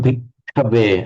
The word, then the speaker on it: bhikkhave: Chittam bhikkhave. Again, you've got to hold the ka.